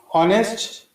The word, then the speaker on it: honest: is silent means mute in honest H is silent or mute so the actual pression starts with o that is W so